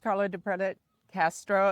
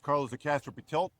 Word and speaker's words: Carlos De Castro Pretelt: Last but not least, Carlo DePreda Castro, and I know I butchered the name. So, yes. Thank you, Carlos. Good morning, everyone. My name is Carlos de Castro Pitel.